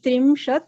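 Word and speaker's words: त्रिंशत्: Trim with E. It's an E. When you write an E, you pronounce the E. So you can't pronounce it as trimshat. It is not a rikara. It is an ikara. So you need to pronounce it as ikara. Trimshat. Yes. Trimshat. So if somebody pronounces it as trimshat, it is incorrect. That's a wrong pronunciation.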